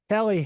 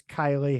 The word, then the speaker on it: Kylie: Kelly Hanner pitched all 7 innings for the win. And I believe I said it wrong because I think it's Kylie Hanner.